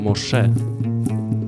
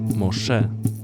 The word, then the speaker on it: Moshe: księgi wyjścia imię mojżesz po hebrajsku wymawia się to muszę musze akcent na drugą sylabę co do pochodzenia tego